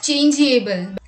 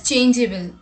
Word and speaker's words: changeable: Many people pronounce this word as changeable, but the correct pronunciation is changeable, meaning likely to change or often changing.